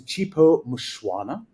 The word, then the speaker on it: Chipo Mushwana: too far away from where I'm sitting is chipo mushwana and I know that pronunciation is correct because I asked it before